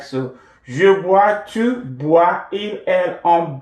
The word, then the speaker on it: bois: Je bois, or I normally pronounce as wa.